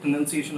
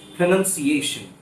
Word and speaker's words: pronunciation: I'm going to tell you the correct pronunciation of the word so that you can listen to the word carefully and then you can start speaking in the same way.